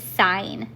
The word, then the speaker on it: sine: We abbreviate sign as three letters, S I N, but we pronounce it sign every time.